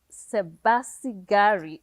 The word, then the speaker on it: Sebasigari: us i'm here with our special guest sebastian gary you said it right yes i said it